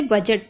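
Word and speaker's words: budget: और जा भी पढ़ेंगे, तो इसे बजट पढ़ते हैं। ठीक है, इसमें डी नहीं पढ़ना है।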